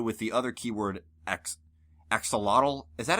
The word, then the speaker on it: axolotl: the other keyword ex axolotl is that how you pronounce that Wooper animal yep axolotl that's how you pronounce it with an English accent oh alright then it